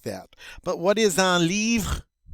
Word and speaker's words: livre: Now, with livre, it ends in RE, but we are not going to say un livre. All right? This word, that E is silent, the word ends with an R, and that's where we stop. We say livre, livre.